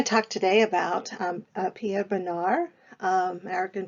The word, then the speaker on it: Bonnard: We're going to talk today about Pierre Bonnard, American pronunciation Bonnard, French pronunciation Bonnard. You may hear me do both.